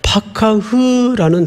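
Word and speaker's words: פקח: 아주 오늘 중요한 이제 본론의 표현이 등장을 하는이 돌보다라는 말은 파카흐라는 단어을 써요. 파카흐 한번 따라서 해 보십시다. 파카흐 그 겨울에 입는 파카 뭐 그 정도로 이해를 하면 발음이 같아요. 파카흐이 파카흐라는 말이 돌보다는 말인데 원래 좀 의역을 한 거예요.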